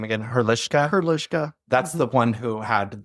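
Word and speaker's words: Hrdlička: Hrdlichka.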